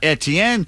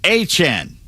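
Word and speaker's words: Etienne: And former Jaguars running back Travis Etien signed with the Saints, but now says we've been saying his name wrong all these years. It is not Etien, it's Achen.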